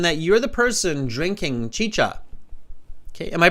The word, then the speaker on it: chicha: so Carolina says uh chicha it's both cha Chi it's not chica it's chicha thank you Carolina Carolina